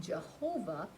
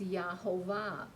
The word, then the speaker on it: Yahovah: Now, many of us had used the name Jehovah, but there are no J's in Hebrew. It's actually a Y. So it's Yahovah.